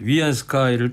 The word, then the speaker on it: 위안스카이: 것입니다 대통령이 조선을 동대하는 위안스카이를 떠올리게 한다 이런 얘기를 했잖아요 여담으로 말씀드리면 우리 국산 시간에 많이 나왔던 인물 아닙니까 원 세계라고 그러죠 원세계 위안스카이 이렇게 발음하기도 하는데이 위안스카이가 59년생이에요 1859년생 이때